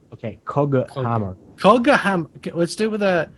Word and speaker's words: Coghammer: The Cockhammer. Yeah, Cockhammer. So The Twitch chat keeps thinking we're saying Cockhammer. how do you pronounce it's causing it them correct? Coghammer with a G, not Cockhammer. Okay, Coghammer.